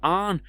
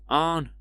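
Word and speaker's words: Aang: I have spelled it with A H N, but like Arn. I don't know if I'm put getting that across right with my accent, but Arn like Arn. Arn Arn like that's how they pronounce it, but that's like the start of the word Anunnaki.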